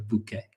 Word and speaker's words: bouquet: But um if they are arranged in a particular way, we will say a bouquet. So you can pronounce it basically the same as in French.